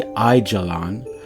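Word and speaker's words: Aijalon: And here we're going to take a look at A-I-I-A-L-O-N. Ayalon. It's really Ijalon, but notice how it's spelled there.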